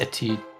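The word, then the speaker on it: Étude: Also, I believe it's pronounced Etude. Thank French.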